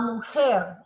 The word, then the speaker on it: mujer: La mujer. La mujer. Yep, the J is like an H.